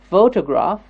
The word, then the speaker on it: photograph: photograph good photograph yes the first word the first syllable is getting stressed photograph photograph yes photograph